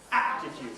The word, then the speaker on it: aptitude: Aptitude, first syllable stress.